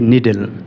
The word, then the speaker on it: needle: নিডল নাকি নিডেল? আমরা যারা গার্মেন্টসে চাকরি করি অথবা সেলাই মেশিন নিয়ে কাজ করি তারা অবশ্যই নিডেল শব্দটি বেশিরভাগ উচ্চারণ করে থাকি। কিন্তু আসলে ইংরেজি যে এন ডাবল ইডি এলই নিডেল এটা কিন্তু নিডেল হবে না।